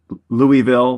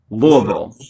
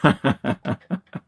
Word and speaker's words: Louisville: If you're not from Kentucky, people say Louisville, but it's Louisville. Louisville.